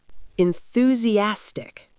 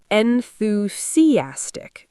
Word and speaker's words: enthusiastic: They say enthusiastic without the th sound. So what's correct? Enthusiastic. You need to move your tongue.